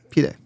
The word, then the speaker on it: pide: another thing that I like to get is I think it's pronounced pide. It's like a pizza. Pita. Yes, pide.